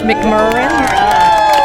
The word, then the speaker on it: McMurrain: Oh, it's McMurrain And Eartha Head.